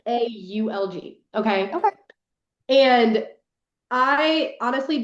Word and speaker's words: Valg: Um, I say Valg, but it's Okay. Okay. Vaulg.